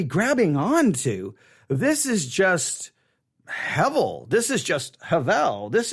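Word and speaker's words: הבל: Now, the word, actually, we should not, the letter B there should actually be given a V sound. So instead of saying Hebel, we should say Hevel. Hebel, but it's stated as if the B is a V. So it's Hevel.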